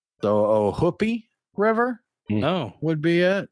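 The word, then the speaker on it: Ohoopee: hoopy River but apparently the locals pronounce it like the double O in foot the oh hoopie River oh would be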